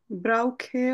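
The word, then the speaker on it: brauche: না, ব্রাউখে হবে correct. CH এর আগে যদি আমার আ, ও আর উ থাকে, তখন ওই সিএইচ এর উচ্চারণটা আমরা ক বা খ এর মতো করব।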